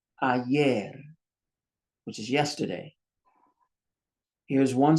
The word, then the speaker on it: ayer: Here's a word that ends in an R. That means the stress is on the end. Ayer, which is yesterday.